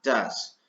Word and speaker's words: does: Y esto se pronuncia does con una A, does.